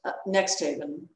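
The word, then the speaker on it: NXTHVN: that's pretty soon now this word is pronounced next haven and it's an artist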